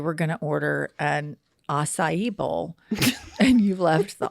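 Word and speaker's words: açaí: other day you were going to order an acai bowl and you left the office and you said, hey, Jenny, do you want one of those acacia bowls? I'm like, what is an acacia bowl?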